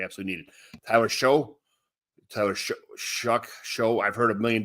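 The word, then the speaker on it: Shough: I think it's Shuck. They said show in college though.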